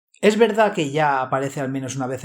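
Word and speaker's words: Jah: La versión del Rey Jaime dice básicamente lo mismo, simplemente lo deletrea con la ortografía antigua de J-A-H, como los pentecostales. Es la misma pronunciación de ya, solo una ortografía diferente.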